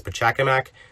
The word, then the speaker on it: Pachacamac: people pronounce it as Pachacamac, but I prefer to say it with an inflection as they do in Peru, since he's actually named after an Inca village.